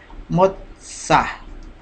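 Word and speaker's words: מוצא: sonido de O, porque recordemos que la bao es una semivocal, ahí se le utiliza con sonido vocal, y como la sadej es pronunciación de la T con la S, entonces al final con esa Aleph suena Motza.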